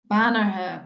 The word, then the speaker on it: Banagher: Banagher Bold.